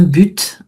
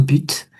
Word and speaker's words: but: Ça fait partie de ce ce fame consonne finale qu'on va prononcer alors que d'habitude on le prononce pas. Un but, avoir un but.